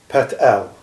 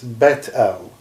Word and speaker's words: Bet El: You'll see that the Andromedans talk about Pet El, right? If any Shiite listen to this, they will say it's not pronounced correctly. It's Bet El, and Bet El means the house of God.